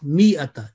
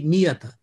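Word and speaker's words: مِائَة: We will say mi'ata. It is written, it is not pronounced. So basically, it is non-elongating in all cases, in all such words. Okay, so it will be mi'ata.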